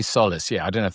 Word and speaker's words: Solace: And and and is it Solless? I mean, how do you say it? I say I say Solace.